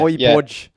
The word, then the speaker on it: Højbjerg: We've had 3 different pronunciations of Højbjerg today. Yeah, we've had Holberg, Hodgberg. Yeah, okay, yeah, Højbjerg.